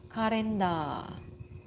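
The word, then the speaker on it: カレンダー: We have karenda.So, yung sa A, mahaba siya, no? May line siya sa taas. And then for the katakana, the line is beside the da. So, you should prolong the pronunciation.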